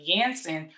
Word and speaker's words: Janssen: see with the johnson and johnson or the yanson or janssen it's it's correctly pronouncing ants in them over um across the